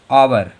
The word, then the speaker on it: hour: अब फिर से एक देखो HOUR, यच के बाद में ओ आ गया तो इसको क्या पढ़ेंगे? और। आवर।